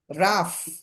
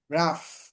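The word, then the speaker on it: rough: টাফ, টাফ, টি ও ইউ জি এইচ, ও ইউ জি এইচ উচ্চারণ আছে, উচ্চারণ হচ্ছে আফ এরকম, টি দিয়ে দিলে টাফ, মিলিয়ে পড়লে টাফ, কঠিন। রাফ, জি আর ও ইউ জি এইচ, রাফ, খসখসে।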